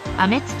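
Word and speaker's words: 天地: エンブレムがあります電池と書いてあめ土と読みます顔を見て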